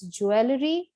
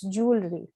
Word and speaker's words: jewelry: next word is jewelry jewelry where the stress is on the first syllable so ladies after watching this video you will not call it as jewellery but it's jewelry now this you might